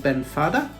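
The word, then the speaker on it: Beinn Fhada: if you'd like to have a go at pronouncing their names in scottish garlic guys the first one faith is called ben fada middle one hope is ger anoch and the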